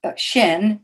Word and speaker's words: Xin: is actually the wood Xin and that would be pronounced shin that would be pronounced shin if I spoke Chinese well enough to pronounce it correctly which if my nephew